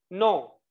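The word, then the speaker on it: nous: نوس لا، مش هنطق الحرف الاخير، فهقول نو.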